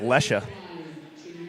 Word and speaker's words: Lechia: up from the line that's pronounced lesha mckenzie lecha 16 54 remaining in